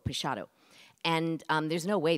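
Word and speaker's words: Peixotto: and um the illustrations for it were done by Julia Morgan's best friend's brother his name was Ernest prasado which is how you say p-e-i-x-o-t-t-o pachado and um there's no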